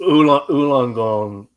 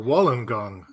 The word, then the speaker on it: Wollongong: Ulongong. Um, yes. No, Wollongong. Okay.